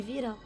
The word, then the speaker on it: Vita: call me Vita. The V 牙 is 齿要 pronounced 轻 by 轻 Vi- 咬一下嘴。